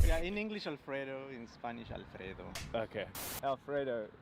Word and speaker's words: Alfredo: Am I pronouncing it correctly? Yes, Alfredo.